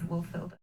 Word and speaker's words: Wulfhildr: I forgot to pronounce the W, so it is Wolfilder.